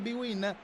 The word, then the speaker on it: Bwin: Si legge Serie B-Win, ma è un vero e proprio antipasto di Serie A.